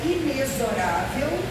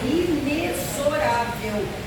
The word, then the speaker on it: inexorável: do baú que a palavra inexorável que a maioria que não é essa pronúncia O correto é inexorável tem som de z a pior delas é